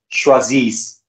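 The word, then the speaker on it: choisissent: ENT is never pronounced. Same rule will apply over here. So this will be pronounced as choisis.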